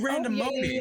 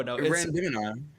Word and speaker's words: Randomini: No, Randomini. it's random in I.